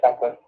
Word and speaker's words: Packard: Hewlett Packard.